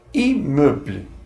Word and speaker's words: immeuble: Por exemplo, a vogal I mais um duplo M pronuncia-se como IN, o mesmo som que pronuncia-se em português. Por exemplo, na palavra immeuble, que significa imóvel.